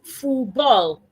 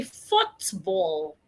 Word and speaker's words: football: A lot of people pronounce it as "foo ball". They throw away the T and the L at the end. So, they say "foo ball". What happened to the T and the L? It should be "foot ball".